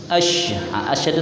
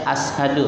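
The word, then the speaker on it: أشهد: Asyhadu itu sennya sen titik. Terbaca ashadu, salah juga.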